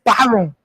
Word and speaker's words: Baron: Brian, we have Brian Brown in studio. It's not the right pronunciation. It is Baron.